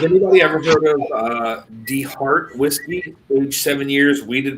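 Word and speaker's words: DeHart: Well, it's it's it's spelled Delta Echo Heart. Deart. Not that D. Yeah. D E H A R T.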